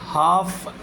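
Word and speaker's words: half: not take more than हाफ एन आर एच ए एल एफ हाफ है एल नहीं बोलना है L silent हाफ an hour it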